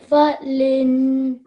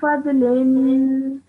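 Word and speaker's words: فضل: Falin. Well done, okay. Dhu fadlin. Thu Falin. Okay, this is a bod, so just make sure you pronounce that, okay?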